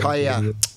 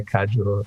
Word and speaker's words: Kaja: Yeah, a lot of people say Kaju or yeah, but it makes sense really. Living in Spain, I should know that the J is silent.